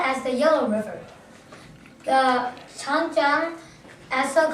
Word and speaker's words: Changjiang: The word how you pronounce it is Huanghe, as known as the Yellow River. The Changjiang, also called the Yangtze River.